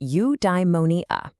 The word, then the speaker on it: eudaimonia: Okay, I've got a new word for you, eudaimonia. It's pronounced you-die-mo-nee-a.